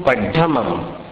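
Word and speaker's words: पढमं: अभी इसमें दो उच्चारण आपको सुधारने, ऐसो को एसो बोलना है और पढ़मम को पढ़मम ढ बोलना है, ढोल का ढ।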